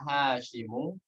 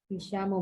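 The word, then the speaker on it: هشام: Hisyamu bukan Hashim.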